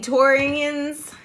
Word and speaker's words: Taurians: Taurians, yeah, that's how you say it.